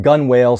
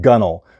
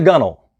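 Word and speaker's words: gunwale: called a g-u-n-w-a-l-e now I pronounced that gun whale seeing it for the first time but we pronounce it gunnel so don't say hey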